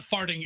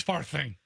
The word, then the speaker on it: Farthing: No, it's not Farting. It's Farthing. Mr. Farting, please pick up the red courtesy phone. Mr. Farting. It's not Farting. Mr. Farting, please. You're saying it wrong. There's an H in it.